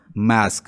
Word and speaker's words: masque: और ओवरऑल इसको क्या कहते हैं, ऐसे मास्क भी कह लेते हैं, और इसकी जो स्पेलिंग है वो इस तरह के हैं, MASQUE।